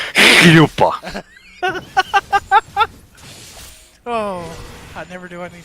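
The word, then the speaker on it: chuppah: Yuppas? Yuppas? I believe the correct way to say it is yupa.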